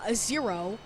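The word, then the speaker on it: Xero: and then to the easiest dream warrior um zero it's how you pronounce it right zero which gets taken down very quickly because he's easy peasy lemon a squeeze.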